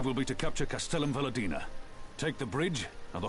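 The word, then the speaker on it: Velodyna: will be to capture Castellum Valadina. Take the bridge, and the whole of the fringes will be ours. From there, we can push east towards the peaks. Oh, so that's how you pronounce it. Velodina.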